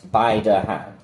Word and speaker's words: Baidehan: So Chinese is like bai to the bai, dao de de, like de as in molds, han as in han yuan, so like knowledge.